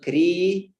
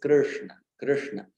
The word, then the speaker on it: Krishna: you're getting that Krishna, It's not kri, there is no e sound there. Yeah, very often it's very much tempting to say Krishna, kri, but it's Krishna, and it is very